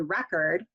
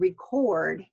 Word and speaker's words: record: to side record so notice the difference between record which is our noun and record which is our verb okay and this happens